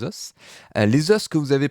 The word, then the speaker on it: os: Moi, à la véronaise, normalement, je prononce toutes les lettres, donc je vais dire les os.